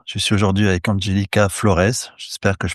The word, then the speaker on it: Flores: Je m'appelle vraiment Flores, comme tu as bien prononcé. En français, en portugais, on dirait plutôt Flores, Angélica Flores.